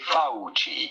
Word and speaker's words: Fauci: pronouncing this last name fauci without ye it's in italian the c is pronounced like ch so do say fauci anthony you said pharisee